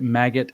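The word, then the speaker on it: MAGAt: I think they pronounce it maggot, actually, M-A-G-A-T, but it's obviously a pun to maggot, like the larval fly, which is dehumanizing insect language.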